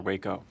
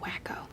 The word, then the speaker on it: Waco: What if it's another Waco? It's pronounced wacko.